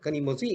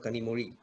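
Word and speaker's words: Kanimozhi: He pronounced the Z also. This is how we are writing it, Kanimozi instead of Kanimori.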